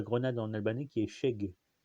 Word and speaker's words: shegë: en albanais qui est Sheg. S-H-E-G-E, E muet quoi. E tréma. Qui se prononce pas en fait en albanais, hein, qui est E tréma quoi.